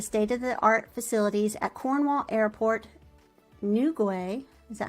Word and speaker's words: Newquay: They utilize the state-of-the-art facilities at Cornwall Airport, Newquay. Is that how you pronounce that? Newquay.